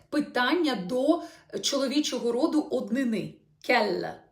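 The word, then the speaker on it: quel: до чоловічого роду однини Кел по вимові так само а те слово яке у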